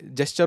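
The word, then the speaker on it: gesture: Flow में अगर जैसे जेस्चर होता है ना, मैं हमेशा फ्लो में उसको गेस्चर बोलता हूँ।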